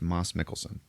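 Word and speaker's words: Mads Mikkelsen: to her home and her dad is uh Moss Mickelson okay by the way his name is pronounced Moss Mickelson really yep turns out it's disappointing I know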